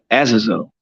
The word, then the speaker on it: Azazel: But the vampire, let me say it right, Azazel, right?